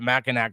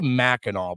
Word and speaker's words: Mackinac: And we took our trip, like I said, we went up to Mackinac Island, and or they say Mackinac, but it's spelled Mackinac, so I'm gonna call it anything I see it.